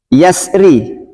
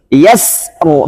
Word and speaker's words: yasru: Yasri. Apa ini? Surah apa ini? Al-Fajr ya? Al-Fajr. Yasri. Boleh dua, boleh tebal, boleh tipis. Tapi dibaca tipis lebih sama. Bacanya di sini yasru, bukan yasr.